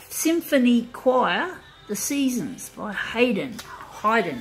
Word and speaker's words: Haydn: the seasons by Haydn Hyden actually I think that's how it's pronounced my dad is into classical music and that was how dad used to pronounce it hiden so yeah it's been